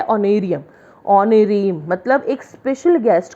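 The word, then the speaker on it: honorarium: या कुछ भी, या ऑनरेरियम। ऑनरेरियम में एच साइलेंट है, सबको पता होगा प्रोनाउंस करना ऑनरेरियम।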